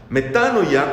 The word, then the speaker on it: metanoia: ya tal vez pero se pronuncia correctamente como metano ya metanoia conversión significa cambiar de